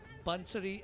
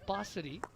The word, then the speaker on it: Bansari: She did clarify that her name ought to be pronounced Bansari and not Basari, as she flashed a rueful grin, saying a number of people were guilty of mispronouncing her name.